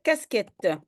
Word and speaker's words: casquette: Max, donc après raquette, j'ai une casquette. Oui, Q-U, je veux prononcer K. Et donc, un K avant le E, c'est Q-U.